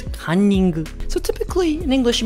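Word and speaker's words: カンニング: So it's called cunning, but in Japanese it's kanning.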